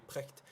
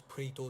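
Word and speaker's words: Precht: que déjà pour pourito même si vous l'appelez prcht ça se prononce prito donc prto bref donc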